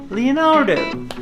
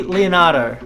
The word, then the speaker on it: Leonardo: Australia you'll see that Australians don't pronounce the letter R so in America of course they'll be saying Leonardo Leonardo Leonardo but in Australia will be Leonardo so you've got to